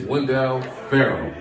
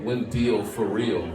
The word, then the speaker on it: Wendell Ferrell: My name is Wendell Ferrell. It's not Wendell for real.